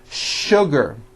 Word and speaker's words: sugar: that there are some words in English that are written with the letter s but are pronounced with the sh sound words like sugar and sure and to